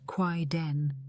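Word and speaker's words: kaidan: Japan also produced Quaidon, pronounced Quaid Den, originally a 1960s anthology, but revived and reinterpreted in various forms over the decades.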